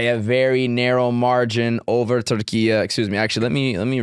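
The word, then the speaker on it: Türkiye: They recently wanted to be referred to by how they natively pronounce it, Turkey.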